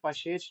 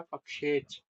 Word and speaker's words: पक्षेच: आप इसे मात्र पशेच नहीं बोल सकते। आपको इसको बोलना पड़ेगा पक्षेच।